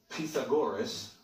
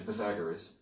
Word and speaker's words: Pythagoras: C squared, yet Pythagoras, that's actually how you pronounce it, or we're used to saying Pythagoras, is known as the father of that theorem and the father of mathematics.